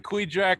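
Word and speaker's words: Kvichak: right now that sounds like spells that's the queejack river so it's spelled kvi chak it's part of the uh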